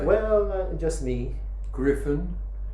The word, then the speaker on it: Griffin: r i yeah and it's pronounced with a hard G and the Griffin means